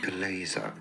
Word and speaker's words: chalaza: Am I even pronouncing that right? Chalaza. Chalaza.